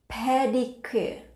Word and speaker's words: pedicure: Chúng ta lưu ý chữ pe ở đây là chữ pe, pe phở. Chúng ta phát âm bằng ngậm hai cái môi chúng ta lại nè. Ngậm nhẹ lại.